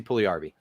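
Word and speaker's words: Puljujärvi: yeah if if they if they show it phonetically it's like pool e yarby but it's jessie puliarby it's next brady brady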